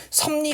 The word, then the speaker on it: 섭리: 살짝 암기해 주면 좋은데요 섭리 같은 경우에 지금 주어진 표기 자체에서는 비 도 비음이 아니고 리도 비음이 아니에요 얘 같은 경우는 일차적으로 그죠 비읍 뒤의 리을이 니은으로 요렇게 비음으로 발음된 다음에이 비음의 영향을 받아서 비음 아니었던 비음이 다시 미음으로 요렇게 음마가 되는 겁니다 일단 다른 애들과는 다르게